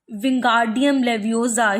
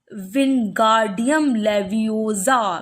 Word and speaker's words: Wingardium Leviosa: Wingardium Leviosa, he shouted, waving his long arms like a windmill. You are saying it wrong, Harry heard Hermione snap. It's Wingardium Leviosa. Make the gar nice and long.